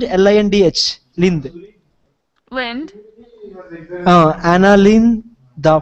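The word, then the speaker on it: Lindh: How can I pronounce L-I-N-D-H?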